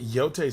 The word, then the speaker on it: Jote: It's spelled Jote, but Yote sounds cool.